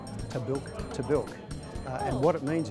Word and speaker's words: Tahbilk: Well, Tabil is an Aboriginal name and it's actually Tabil.